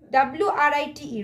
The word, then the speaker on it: write: words so please circle the words wrist wrist w-r-i-t-e write k-n-i-f-e knife h-o-u-r our k-n double e